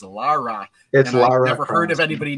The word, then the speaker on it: Lara: however you pronounce it because I us say Laura coft naturally but it's not Laura it's Lara and never heard of